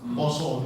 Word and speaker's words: Pasa: Yaitu bulannya Pasa, PASA, Poso dibacanya. Tetapi di situ ditulis kuasa.